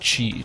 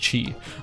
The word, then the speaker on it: QI1: Oh, also one more quick clarification, QI1 is pronounced Chi, just a heads up, it's pronounced Chi.